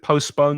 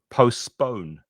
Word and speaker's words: postpone: Notice with postpone that you're stressing the second syllable, which is this one. So postpone, postpone, postpone the meeting.